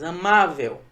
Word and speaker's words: amável: Amável. Veja que a sílaba tônica não é a última, é a penúltima, por isso ela é uma palavra paroxítona.